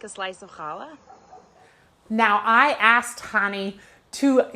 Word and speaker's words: challah: for a very long time with how to pronounce this word right here it looks like Chala but it's actually challah and there's kind of a guttural little in